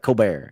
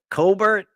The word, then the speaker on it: Colbert: cobbert and he's like coar and she's like Colbert and he's like coar and she's like it says Colbert he's like I've had this name for 30 years I know how it's pronounced that's hilarious Dunning Krueger